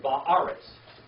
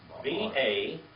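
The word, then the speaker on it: בָּאָרֶץ: And then Ba'aretz. B-A-A-R-E-T-Z.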